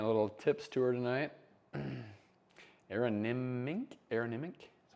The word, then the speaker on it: Aronimink: Aronimink, is how you say it.